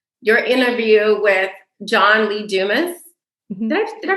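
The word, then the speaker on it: Dumas: to say this your interview with John Lee Dumis did I did I pronounce his name correctly yes you didas yeah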